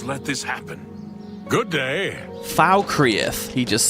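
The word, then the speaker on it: Falkreath: Falkrith. He just said Falrith.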